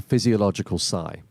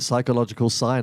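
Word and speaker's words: physiological sigh: easy it's called the physiological Psy a lot of people say it wrong they call it the psychological sign I've seen that online quite a few times it is not it's the physiological side for a very good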